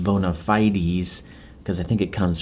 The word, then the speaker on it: bona fides: Okay, so he's establishing his bona fides, which Garner clarifies ought to be pronounced bona fides, because I think it